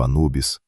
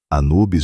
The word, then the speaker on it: Anubis: O próprio deus, aliás, os egípcios chamavam de ampu ou impu. Anubes já é a forma grega de pronunciar o nome dele.